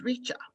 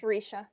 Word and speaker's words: Reisha: suggested norms from miss richa thank you i hope i'm pronouncing your name correctly um it's reisha it's okay risha thank you um and